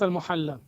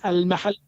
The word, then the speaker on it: al-Mahalli: It is not al-Muhalla. What it You is? don't understand. What it is? It is al-mahalli.